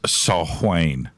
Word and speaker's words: Samhain: of all Gaelic Celts Samhain is pronounced a salt Wayne oh no you don't